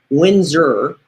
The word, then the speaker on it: WHINERS: minute but it's also in our Showbox it's Windor and that's how it's pronounced but you'll see how it's spelled w